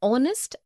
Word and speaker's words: honest: Also an air, an honest, an hour because the words air, honest and hour begin with a vowel sound as the initial consonant h is not pronounced.